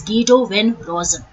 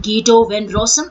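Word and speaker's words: Guido van Rossum: was created by a Italian programmer that is GTO ven rosum all right that's how we pronounce his name GTO V rosum and it was officially released in the year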